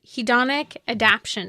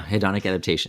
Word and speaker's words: hedonic adaptation: out right away is hedonic adaption is am I saying it correctly yeah hedonic adaptation exactly adaptations right enough yeah